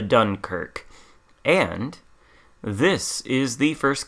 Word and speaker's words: Dunkerque: mispronunciation of french words this one i can pronounce it's the dunkirk and this is the